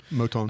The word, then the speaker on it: Moton: Is that how you say it, Moton? Moton. Yeah. But I think you're saying you don't think they can get around him. He's given up the most sacks. Oh, you can get around him. Yeah, Moton.